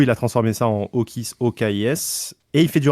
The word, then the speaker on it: Okis: s'appelle Okis. Ça s'écrit O-K-I-S.